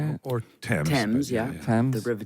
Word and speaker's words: Thames: Thames, but yeah.